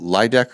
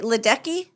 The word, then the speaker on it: Ledecky: Oh, Ledecker or what? Is it? Yeah, Ledecky. Oh, something Ledecky. Okay. She for the female, I think that Molly's going to check it on the Google machine. Katie Ledecky.